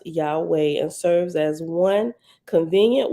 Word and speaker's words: Yahweh: touch of Grandma saying Yahweh Yahweh here is pronounced Yahweh and serves as one convenient word to signify